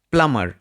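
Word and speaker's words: plumber: এটার সঠিক উচ্চারণ হচ্ছে প্লামার।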